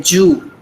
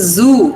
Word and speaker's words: zoo: So instead of z, they substitute it with j. For zoo, they say Jew, right? How many of you have heard that? So it is zoo.